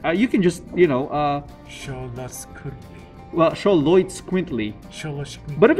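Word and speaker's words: Xoloitzcuintli: I'm gonna pronounce that. Good luck. It's Choloitz Quintly. Oh. Choloitz Quintly.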